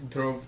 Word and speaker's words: Dhruv: It's Dhruv. It's Dhruv.